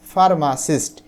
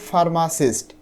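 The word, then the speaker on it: pharmacist: এখানে পি এইচ এর অর্থ হচ্ছে এফ মানে ফার্মাসিস্ট। আমি দেখো এখানে উচ্চারণটা লিখে দিয়েছি। এটা কিন্তু ফার্মাসিস্ট।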